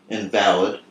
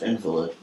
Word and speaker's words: invalid: When using the legal sense, it's pronounced invalid. When using the sickly sense, it's pronounced invalid.